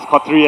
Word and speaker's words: Khatri: KC stands for Khatri. It's pronounced as Khatri as well.